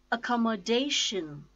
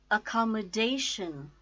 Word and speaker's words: accommodation: it's now time to know five syllabic words accommodation accommodation come MO - and the stresses on - fourth syllable - accommodation accommodation administration administration min is